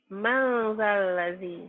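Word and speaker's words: مَنْ ذَا الَّذِي: Madzalladzi man dibacanya jadi Mangzalazi. kenapa jadi mang? Nun mati Pak ketemu zal. Jadi Dibunyikan bunyinya dibunyikan jadi mang.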